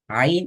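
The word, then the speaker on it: عين: அதான் முழு முக்கியமான விஷயம் ஐன் என்ற எழுத்தை பொறுத்தவரைக்கும் ஐன் அலிஃப் உச்சரிக்கிற அதே ஸ்டைல்ல மேலிருந்து கீழ் நோக்கி உச்சரிக்கப்படணும் ஆனா ரைட் அப்ப அலிஃப் உச்சரிக்கப்படக்கூடிய அதே அமைப்புல தான் ஐனையும் உச்சரிக்கணும் ஆனால் இந்த இடத்துல வந்து நாக்கை தூக்கணும் இப்ப நாங்க அலிஃப் சொன்னோம்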